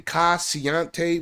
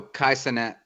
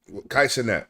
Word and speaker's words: Kai Cenat: Kai Siante, whatever. No, Kai Cenat. Kai Cenat. That's how you say it.